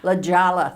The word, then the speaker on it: La Jolla: I chose it Jody didn't even know how to pronounce the name is like La Jolla or whatever it was La Jolla that's right the Jolla but I